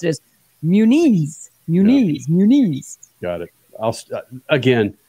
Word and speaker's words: Muniz: wants it pronounced well the official way to pronounce it is Muniz Muniz Muniz got it again it's not gonna be munas yeah okay put put I can't even say